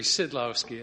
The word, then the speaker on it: Sydlowski: give us a pronunciation it pronounces a lot easier than it looks it's essentially sydlowski as if it was sid that's a good italian